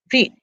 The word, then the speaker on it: read: are the same but for read which is written the same but pronounced differently read you must pronounce as if present read if pasta would be red okay then if passed past little will be red also okay so this is